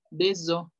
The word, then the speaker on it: des œufs: Pero si dicen huevos, ya es O. Deso.